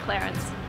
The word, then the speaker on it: Clarins: So if you want to be local in the States, say Clarins.